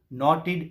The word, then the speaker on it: knotted: Just a ball of knotted yarn. K-N-O-T-T-E-D. K-N-O-T-T-E-D. Knotted. K is silent. It is not knotted. You shouldn't pronounce the sound of K.